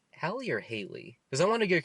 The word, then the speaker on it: Halle: one with the only exception being um it's pronounced hallier Haley because I want to get confused with I